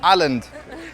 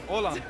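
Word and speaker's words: Åland: for a lot strong alland am I pronouncing it right alland orand orand orand pleasure to meet you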